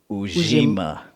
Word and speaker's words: Ujima: Okay, first, the pronunciation is Ujima.